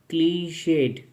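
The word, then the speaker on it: clichéd: तो ये जो वर्ड है क्लीशेड क्वेश्चन। देखिए अगर हम डी को प्रोनाउंस ना करें तो ये वर्ड होगा क्लीशेड।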